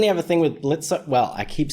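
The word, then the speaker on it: Blitzø: Well, I keep saying I keep saying blitzo, you know, because there's the O, but you know, people in the comments always come at me and say the O is silent.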